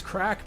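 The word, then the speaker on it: craic: Yeah, it's crack, but it's spelled C-R-A-I-C, and it's actually a Gaelic word, like an Irish word.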